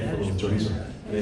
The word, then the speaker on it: chorizo: And they said, in Chinese, they said, "This is chorizo," which chorizo is a Spanish word, right? For little chorizo. And they said, "It's not chorizo, it's chorizo."